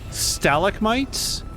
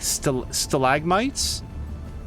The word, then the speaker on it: stalagmites: stalic mites is that is that the British British pronunciation stalic mites is that what they say cuz I love that I've never heard that before in the United States it'd be more common to hear like stalagmites stalagmites that is such